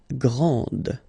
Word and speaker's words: grand: This final D is not pronounced.